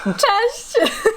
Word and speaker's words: cześć: Cześć. Cześć. He doesn't know any words in Polish apart from cześć. Yes. No, it's cześć, hey.